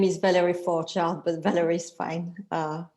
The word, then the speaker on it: Forgeard: that i butcher so i will let her pronounce that for you as well so yes my name is valerie for child but valerie is fine uh okay yeah i